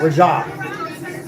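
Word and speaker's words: Reza: Raja. I pronounced his name wrong. I stand correct. Raja.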